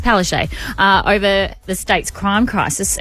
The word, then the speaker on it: Palaszczuk: I mean, it certainly doesn't read that way, but that's the correct pronunciation. It looks like Palaszczuk, but it's Palaszczuk.